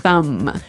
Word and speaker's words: thumb: of this word no I actually only pronounce the M the thumb the thumb